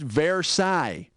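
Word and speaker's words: Versailles: ended like World War I or something it's pronounced verai and I think para thigh is what you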